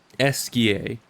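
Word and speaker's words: Esquie: Missed the chance to meet Esier. No way. Esier.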